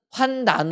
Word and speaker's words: 환난: 발음 해야지만 는 거지만 오늘 성경에 나오는 환난 미운 으로 끝나는 나는 환난 으로 발음 해야지 맞는다 라는 거예요 그래 이게 뭐가 차이가